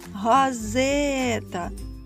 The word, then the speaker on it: газета: на звук о наступне слово газета давайте покличемо газета так наголос на звук е горобець покличемо горобець знову